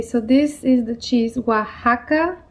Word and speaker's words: Oaxaca: string cheese okay so this is the cheese oaxaca o a x a c a but it's pronounced oaxaca it is a mexican cheese right